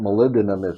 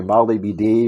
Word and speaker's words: molybdenum: when people hear about molybdenum it's one of those things that few people can can pronounce right they usually say molly bd or molly be damned uh how does that